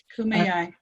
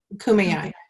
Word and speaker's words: Kumeyaay: tribe, so I'm not going to try and mispronounce it. Kumeyaay. Kumeyaay.